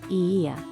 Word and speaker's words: Oia: Santorini Greece o IIA Village o IIA Village pronounced EA has some of the most beautiful views and